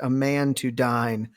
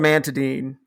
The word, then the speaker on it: amantadine: Oh, Jesus Christ, a man to dine. It was awful. So now I pronounce it in my head, amantadine, but it's called amantadine, and it was developed for people with Parkinson's